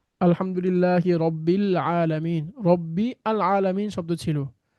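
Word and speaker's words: رَبِّ الْعَالَمِينَ: এখানে আমরা কিন্তু ওই যে আলের মধ্যে যে আলিফটা, সেটা আমরা উচ্চারণ করতে পারছি না, বরং কি করছি, মিলিয়ে দিচ্ছি আমরা, রব্বের বি এর সাথে আমরা লামকে গিয়ে ধরছি।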